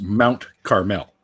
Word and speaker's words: Carmel: just so you know it's pronounced mount carmel mount caramel no caramel no extra a in there yeah it does